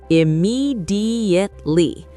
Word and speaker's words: immediately: Immediately. Five syllables. This is a mouthful. Immediately. The stress is on the second syllable.